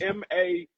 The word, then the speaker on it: Mattice: I can't pronounce his last name. It's Mattice.